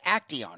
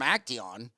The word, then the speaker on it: Acteon: Did I pronounce that Acteon? Right? Acteon.